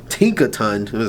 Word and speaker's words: Tinkaton: And then last but not least, we have our Tinker Ton. Tinkeraton. Say it. Let me say it properly.